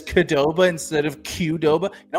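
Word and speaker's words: Qdoba: How would you pronounce it? Um, I think I would say Kudoba. Okay, Ben, I pronounce it Koba. Koba. We're just going short. C. Mark, you're actually right. I'm upset that you had it right.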